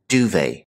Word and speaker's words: duvet: A blanket which is filled with feathers and commonly found in European countries is the duvet. This is a French term, so we don't pronounce the T here. Duvet.